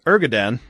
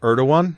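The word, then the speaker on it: Erdoğan: his countertop okay um ergadan praised him well that's how it's pronounced erdogan yeah erdogan too many different letters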